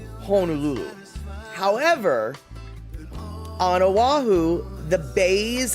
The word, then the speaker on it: Honolulu: u l u you know and you should pronounce it via that spelling honululu however on aahu the bays and the inlets